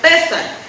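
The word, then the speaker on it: פֶּסַח: la Pascua Pascua y en hebreo pesac con acento en la e inmediatamente después de la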